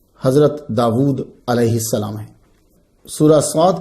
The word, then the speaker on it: داود: اسم داود قرآن مجید میں 16 مرتبہ آیا ہے۔ اس کا تلفظ داود ہے، ہم داود بھی کہتے ہیں، وا الٹا پیش وو، داود۔ یہ اسم جو ہے